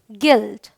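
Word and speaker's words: guilt: टू क्या कहता है अगर यू जी और किसी वाउल के बीच में हो तो यू साइलेंट होता है तो देखिए जो यू है इस जी और इस वाउल के बीच में है यहां भी जी है ये वाउल है इसके बीच में तो यहां पर यू साइलेंट है ये है गार्ड ये है गेस ये है गेस्ट और ये है है गिल्ट ऑलराइट चलिए वाई के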